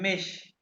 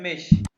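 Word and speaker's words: mich: इश्क का अक्कुज़ेटिव होता है मिश। इसको मैं सिर्फ प्रोनाउंस कर रहा हूँ, इसके मीनिंग्स में नहीं, मीनिंग्स में बाद में बताऊंगा, पहले इसकी प्रोनाउंसिएशन सुन लो। इश्क का अक्कुज़ेटिव होता है मिश, मिश।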